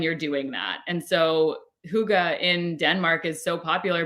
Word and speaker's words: hygge: It was HYGGE. Oh, hygge. Hygge. Hygge. Yes. Yeah, it's pronounced.